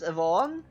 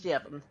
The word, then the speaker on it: Yevon: Did I pronounce it as Yvonne? But I did not come on, it's Yevon.